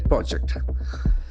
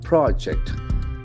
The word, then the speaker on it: project: civil line project project since it is a noun the accent falls on the first syllable is veryable observation project project it's a plan work project if a verb the accent will be the second syllable project project that's very